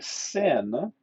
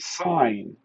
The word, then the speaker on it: sine: four sin theta now it's not actually sin sin is a short form for sine so we actually pronounce it sine the sine of theta